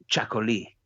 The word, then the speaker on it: txakoli: And then the Basque Country produces its own special sort of wine, which is called Chacoli, which is spelt in a very Basque way. It's a Txakoli.